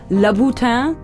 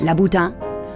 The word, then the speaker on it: Louboutin: I have heard Laboutin, but which is the way you would say it in France. Yes. Laboutin.